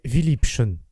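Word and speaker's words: Vielliebchen: compte de sa signification il y a en allemand un mot qui se prononce presque absolument de la même manière que notre philippine c'est viliption qui veut dire beaucoup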